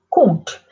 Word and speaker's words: compte: Compte. The M is actually pronounced as an N.